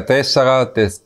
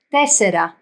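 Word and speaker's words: τέσσερα: Aber im Griechischen, die Konsonanten, die sind nicht hart, die sind tessera. Es ist nicht wirklich tessera, es ist aber tessera. Es ist immer noch eine T. Ist ein Mittelding zwischen weich und hart ausgesprochen.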